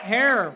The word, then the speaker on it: Herer: are at the strain jack hare rhymes with terror causes errors faces